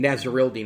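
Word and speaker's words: Nasirildeen: out of florida state nazarel dean nazarel dean is how you pronounce that hamsa nazarilla out of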